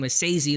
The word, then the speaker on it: Esezi: and Tony Romo did not know how to pronounce his name but Oto Maywa his name Asesei the first name bigo as they call him